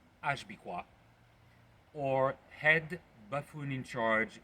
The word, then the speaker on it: HBICWAW: of the country currently being misled by HBICWAW, pronounced Ashbikwa, or head buffoon in charge with autocratic wish.